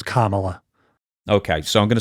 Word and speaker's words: Kamala: pronounce it ca Harris so initially they were pronouncing it like Kamala the unon giant type thing when she first came on the scenes but it's Kamala okay so I'm going to say Kamala anyway